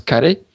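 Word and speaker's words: カレー: base de curry donc au japon ça se prononce carré c'est pas le même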